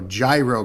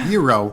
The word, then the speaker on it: gyro: pronounce uh you know gyro correctly it's hero it's gyro yeah yeah yeah you have to pronounce the g i want a gyro